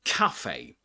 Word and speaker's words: cafe: This is pronounced with the same vowel sound as in cat with we say cafe.